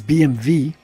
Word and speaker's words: BMW: Well, first of all, you're pronouncing it wrong. It's BMV.